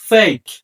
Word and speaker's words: fake: Number 3, শব্দের শেষে ই থাকলে ই এর উচ্চারণ হয় না। এক্সাম্পল ফেক, FAKE ফেক, অর্থাৎ লাস্টে যে ই আছে ই এর উচ্চারণ হয়নি, ফেক অর্থ ভুয়া।